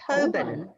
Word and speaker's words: Holborn: It is pronounced Holborn. Holborn. Huh. Yeah, us Brits are weird, aren't we? Yeah, there's probably many random letters in there that you just forget about.